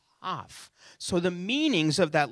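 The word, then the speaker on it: כף: One is the letter Kaf, like cough. That's how you pronounce the letter.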